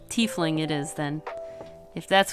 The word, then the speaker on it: tiefling: probably I guess it must be tiefling then I think the reason I've said typhling is because like the first person who ever told me about dnd's pronounce it tiesling I think that's what